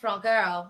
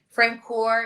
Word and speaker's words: Francoeur: It's pronounced frankl which means honest pure heart in French like the actual translation of it but often just to make it easy for people I will just say frank core is fine.